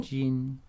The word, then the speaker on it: 今: 今天 J is 基 in 金 Jin. Okay, first tone.